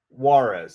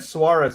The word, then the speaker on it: Juarez: Juarez. Yeah, they said Suarez at first, but now they're saying Juarez. That's how I would have pronounced it.